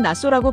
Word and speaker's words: Nassau: 한글 표기는 나사우가 맞다고 하는데 별 의미는 없는 것 같아요. 현지에서는 낯소라고 발음하니까 그대로 써 주는게 맞다고 생각해요.